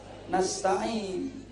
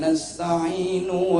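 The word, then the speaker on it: نستعين: banyak panggilkan ayat itu bacanya juga ini Entah nasta'inu Wah iya kan ndak boleh itu ini ya karena Ubuntu wa iyyaka nasta'in iyyaka na'budu wa iyyaka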